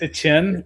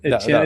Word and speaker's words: Etienne: Uh Travis Etienne. Etienne, it's like the the French Creole pronunciation. It's not Etienne, it's still Etienne but pronounced Etienne.